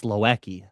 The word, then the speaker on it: Loeki: It's spelt like low and then key. That's Loeki.